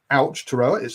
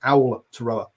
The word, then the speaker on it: Aotearoa: Sky could say Aotearoa, and it's not Aotearoa, it's Owl, O-W-L, Aotearoa. Was how she phonetically put it. Hopefully, I'm getting somewhere near it, guys. Who put it? Aotearoa.